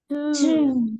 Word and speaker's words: Tuesday: وقلت لك ما تقولش تيوز ليه؟ عشان اليو اي بتتنطق او، يبقى نقول تو مش تيو.